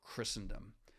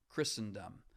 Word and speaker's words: Christendom: a particular King namely Christ hence Christendom not Christendom that some sometimes people mispronounce it Christendom okay so there is